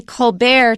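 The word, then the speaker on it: Colbert: was criticizing him said oh you just say colar to sound all French and fancy don't you and he said yes he changed the pronunciation himself because it sounded fancy or more prestigious that's right so that's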